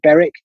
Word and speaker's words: Berwick: nomads roger veer for example i imagine jeff beric's done the same berwick as you pronounce it but it's really beric if you pronounce it correctly i'll let him